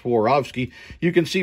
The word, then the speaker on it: Swarovski: we've got some swarovski crystal yes dave it's pronounced swarovski you can see right here it's a uh